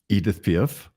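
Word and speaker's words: Édith Piaf: pinent you have a wonderful love for um Edith pif yes is that how you say her name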